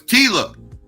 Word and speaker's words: Tyla: you to believe oh it's Tila okay I'm pronouncing okay it's Tila not Tyler okay my fault it's